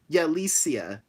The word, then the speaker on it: Yalicia: I just saw a comment and not to be rude, but you mispronounced my name. It's Yalicia.